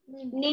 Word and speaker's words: निम्न: It is ni. Then ma, half and na. Nimn.